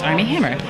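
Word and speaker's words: Armie Hammer: with army hammer which I always say his name and I'm like Armand Hammer right now it's army hammer and he was really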